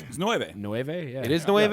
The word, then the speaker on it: nueve: nueve yeah it is the wave yeah okay so nuevo's new and nueve is nine whatever either way welcome